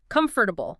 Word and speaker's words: comfortable: If you look at the spelling, it looks like comfortable with four distinct syllables. But in natural fast speech, we almost always squash it together. Comfortable. Just three syllables.